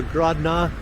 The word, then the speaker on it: Grodno: house I believe that pronouncing it rodno or grodna has to do with uh one being English one one is Russian and then the spelling